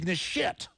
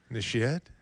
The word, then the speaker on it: Nishit: disrespectful to not say his true name, which is Nishit. It just is. Yeah, say it with love though. Say it like try saying the shit. How about that? Nishit?